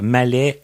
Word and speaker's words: Mallet: Et comme on disait quand on a préparé l'entrevue, c'est Mallet, pas deux T et E, là, Mallet E-T.